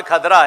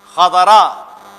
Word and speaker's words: خضرا: اب یہ دیکھ کھدرا سب کی زبان پہ کھدرا ہے, وہ دراصل کھدرا نہیں ہے, وہ ہے خضرا.